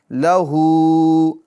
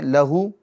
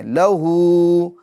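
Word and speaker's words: لَهُو: تو اس کو بھی کھینچ کر پڑھیں گے، کس طریقے سے؟ لہو، ہجے کرتے ہیں، لام زبر ل، ہا الٹا پیش ہو، کھینچیں گے، لہو، اگر آپ یوں پڑھتے ہیں لہو، لہو تو غلط، کھینچیں گے، لہو، لام کو نہیں کھینچیں گے، لام پر زبر ہے، ٹھیک ہے؟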